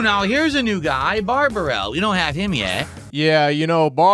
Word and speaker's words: Bibarel: Bidoof. It's like he doesn't know how to pronounce Bibarel, so he's just saying Bidoof. It's Bibarel, actually.